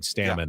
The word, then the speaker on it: Stammen: But I have a pet peeve that even people around baseball who know him, don't know how to say his name. Yeah. How many times do I have to hear Stammen, Craig Stammen? Really? Stammen. Dave Roberts did it yesterday at the managers. Call him Stammen.